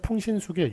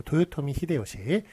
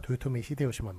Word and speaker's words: 도요토미 히데요시: 그래서 우리식대로 읽으면 풍신수길 이렇게 읽습니다만, 일본 사람들은 일본식 발음대로 그렇게 쓰는 것을 표기에 외래 표기에 맞게 하였습니다. 그래서 도요토미 히데요시 풍신수길은 틀립니다. 도요토미 히데요시만 맞고, 이토 히로부미만 맞지.